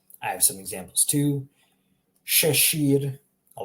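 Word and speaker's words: šešir: So imagine SH if you're having trouble pronouncing this. You shouldn't have trouble pronouncing this though. But if you are having trouble, think of the SH. Try to replace the sh with an SH in English, and then that's how you would pronounce it.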